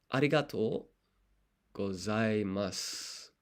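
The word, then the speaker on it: ありがとうございます: Skip the U there also at the end when it comes to pronunciation. ありがとうございます.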